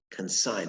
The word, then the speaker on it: consign: the noun excellent consign consign now the g is silent there consign what does